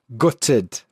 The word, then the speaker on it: gutted: Gutted. Now, for me, I glottalize the T, so gutted, but some people will pronounce the T gutted.